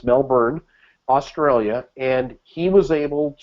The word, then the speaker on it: Melbourne: I pronounced it correctly this time. It's not Melbourne, it's Melbourne, Australia.